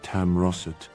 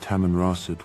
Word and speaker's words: Tamanrasset: This Canadian article also went to the trouble of correcting the British MP's mispronunciation of Tamroset, though it still didn't seem to be aware that Tamanrasset was a real location,